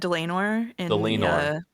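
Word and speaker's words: Dlanor: Is it um It's a It's a It's said Delenor. Yeah. So like lame because she's lame.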